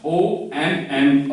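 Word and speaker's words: homme: So, this is mute, And you have just learned the last vowel is pronounced except E. E is not pronounced. So, you will just read it as Om. You will write H-O-M-M-E, but you will just write H and E. They will not be pronounced.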